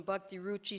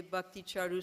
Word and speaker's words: Bhakti Charu: sannyas and tomato kushmaraj got his name wrong it was he called him bhakti Ruchi Swami but then corrected it the next day bhakti charu Swami but because of his